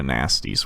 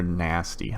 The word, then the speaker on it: Gnasty: Or nasty. I don't know. How do you say when it has a G before it? It's Gnasty. It's Gnasty Gnorc. That's how you say it, I think.